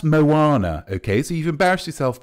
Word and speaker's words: Moana: what's that one called Mona Mona oh M OA it's pronounced Moana okay so you've embarrassed